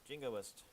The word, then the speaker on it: jingoist: You pronounce that entirely correctly. Jingoist.